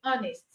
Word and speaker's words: honest: say Hest you say honest cu the H is silent ghost the H is